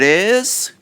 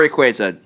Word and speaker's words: Rayquaza: is a joint decision it isaza or Rayquaza two different pronunciations I like Rayquaza I do too it sounds epic and it sounds like Plaza all right go ahead